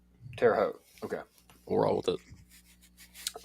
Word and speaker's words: Terre Haute: had Tennessee going to the uh Terre Haute Tara how hope how do I say that how do you say that Indiana State Terre Haute Terre Haute okay we'll roll with it um Regional with